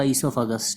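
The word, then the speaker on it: oesophagus: हुआ था उसको हमने क्या है वह को साइलेंट करके इसका नाम बनेगा इसोफागस ठीक है फूड पाइप भोजन नली इसको बोलते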